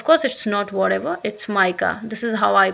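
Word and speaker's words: mica: नदरन, of course it's not whatever, it's माइका, this is हाउ I pronounce it, आई am sorry.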